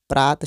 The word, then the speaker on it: प्रातः: ऐसे ही प्रात शब्द में जो 2 चिन्ह लगे हैं इसको हम विसर्ग कहेंगे, और इसका उच्चारण आधे ह की तरह होगा जैसे कि प्रातः।